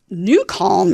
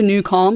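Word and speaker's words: NuCalm: sleep and I need to sleep well so new calm is where I turn to that's how I managed to get here today because I had a great night's sleep and it's all thanks to newcal which for those of you listening on the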